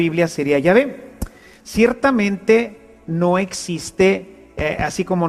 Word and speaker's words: Yahvé: De manera que yo soy el que soy, se pronunciaría o se diría Yahvé. Yahvé te envía. Así es como habría sonado en hebreo antiguo lo que Dios le